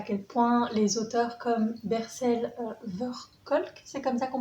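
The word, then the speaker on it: Bessel van der Kolk: Avant ça, si vous avez regardé la dernière vidéo, vous savez à quel point les auteurs comme Bercel Verkolk, c'est comme ça qu'on prononce son nom, sont importants et à quel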